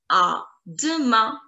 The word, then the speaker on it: à demain: tomorrow, you would say, à demain, à demain, à de, D-E. Sound of the letter E is E, E. So it's going to be de, de, de.